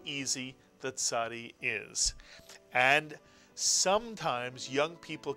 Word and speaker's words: Tzadee: And again, in my mind, the Tzadee has the TZ built into it. But please don't mistake the ayin, which is silent, with the Tzadee, which is TZ.